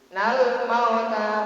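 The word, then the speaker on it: الْمَوْتَ: Apabila lam ta'rif berjumpa ya, berjumpa dengan mim, masih lam ta'rifnya dibaca idhar. Hukum bacanya idhar komari, lam komariyah itu disebutnya. Mauta sama dengan ini ya, nau. Harokat fathah menghadapi waw mati, harokat fathah menghadapi waw mati, waw sukun, maka wawnya menjadi huruf lin.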